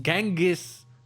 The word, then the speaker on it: Gangus: Ça se prononce Gangus par contre que je piloté par mon cousin Alfonso.